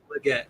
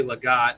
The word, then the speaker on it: Leggett: Leggett. Okay. For some reason, I wanted to say Legat. I knew somebody with that last name, but I knew that wasn't right.